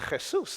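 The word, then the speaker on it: Jesús: It's pronounced Jesus.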